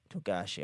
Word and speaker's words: Togashi: Fuck, I mispronounced it. Togashi. Togashi.